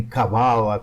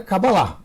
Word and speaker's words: Cabala: com H no final, outros pronunciam até Cabalá, que seria correto do ponto de vista do hebraico, gente. Do hebraico é Cabalá. A palavra correta é Cabalá, mas a gente está no Brasil. E como a gente está no Brasil, a gente tem que pronunciar da forma que o brasileiro fala. Então é Cabala.